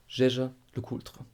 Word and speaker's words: Jaeger-LeCoultre: Jaeger-LeCoultre.